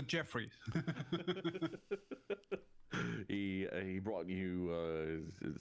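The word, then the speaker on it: Djeffry: books and such that Jeffrey with a DJ e FF r y it's pronounced the Jeffrey he he brought you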